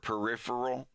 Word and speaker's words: Perry Farrell: Peripheral. It's pronounced peripheral. It's not peripheral or peripheral. That's one I hear the most.